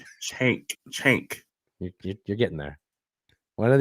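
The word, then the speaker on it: Cenk: Chank. Right? Chank. You're getting there. One of these days you'll pronounce that name right.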